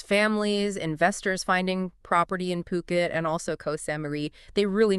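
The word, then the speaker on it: Phuket: And just to be clear on pronunciation there, it's Puket. P O Ket, right? Definitely not Fuket or anything else you might hear.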